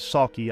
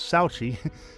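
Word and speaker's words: Sauchie: It's been called the Amityville Horror of Scotland, and the name of the town is Saki. I saw it and thought it was Souchi, but I know nothing about, you know, Scot Scottish accent and pronunciation or Scots.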